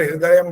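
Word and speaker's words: हृदयम्: में सुना दिया और हृदय बोलना है वो ह में री जो है ना यह कठिन होता थोड़ा सास ठीक है ओम हृदयम ह्री द द भी पूरा आना चाहिए बोलो एक बार हृदयम बोलो ओम ह हृदयम ये ह्र ना ये गलत होता है ओ हृदयम ह्र हृदयम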